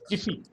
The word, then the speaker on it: GIPHY: लोकमान जी, इसका जो स्पेलिंग है, इसका GIPHY spelling GIPHY not T, it is P for Patna. Jiffy.